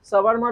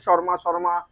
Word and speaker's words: shawarma: Maximum লোক এটাকে শর্মা শর্মা বা সবার মা, হ্যাঁ পৃথিবীর মা, এসব অনেক কিছু বলে যায়। তো অ্যাকচুয়ালি এটার প্রোনাউন্সিয়েশন হচ্ছে সাবারমা।